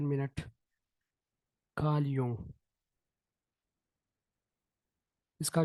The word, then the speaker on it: Jung: Karl यूंग, बिल्कुल आपकी बात ठीक है, ये है भी कार्ल यूंग।